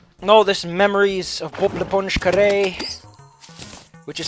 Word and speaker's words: l'éponge: Because the reason it's l'éponge and not le, it's l'éponge, because it's spelled esponge. And when you have a vowel, you remove the L-E, L-A, it just becomes an L and an apostrophe. So it's Bob l'éponge.